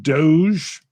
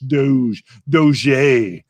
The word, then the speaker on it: Doge: It's pronounced Dog. Oh, it is Dog. Yeah, it's Dog. Pronounced that way. Okay, I was trying to be all French. Doge.